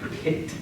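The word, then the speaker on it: π: a uh I know the math term is pronounced Pi but in Greek we pronounce it P I'm not entirely sure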